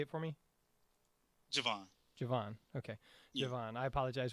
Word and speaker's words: Jovan: out to or i'm sorry i said your name wrong you said it say it for me javon javon okay javon i apologize for that javon